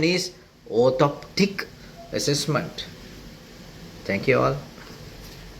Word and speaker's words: orthoptic: Correct pronunciation is orthoptic assessment.